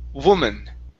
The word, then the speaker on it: woman: Instead of woo woman with an ooh sound, it's w woman.